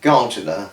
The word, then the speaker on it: gardener: But yes, but she's a fantastic gardener, this lady. It's gardener, not Gardiner like Tommy Gardiner, which is Gardiner. It's gardener like, you know, with the spelt garden with the Gardiner at the end, all that.